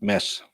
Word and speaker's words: Mads: It's spelled that way, but it's pronounced Mads, not the D. The D is always silent if you are from the part of Denmark where I'm from.